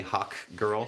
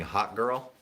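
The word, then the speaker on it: Hawkgirl: Always have to be like pronunciate Hawk with the K, Hawk Girl. Sounds like Otherwise people think I'm just saying Hot Girl.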